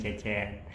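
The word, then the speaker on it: Çeçen: Terus Cecennya biasa, biasa, Cecennya C-nya pakai yang ada komanya di bawah, karena kalau misalnya C biasa itu dibacanya J.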